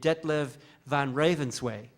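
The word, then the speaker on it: Detlev van Ravenswaay: So it sounds like, it's spelled like it sounds, except for the last double A at the end.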